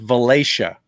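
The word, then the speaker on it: Valatie: town near us it's spelled v-a-l-a-t-i-e v-a-l-a that's pronounced valacia huh so when you when you blow into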